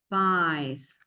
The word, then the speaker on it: buys: buys. B-U-Y-S. Buys. It's like you don't hear the U, and it's like the word buy, buy, nearby.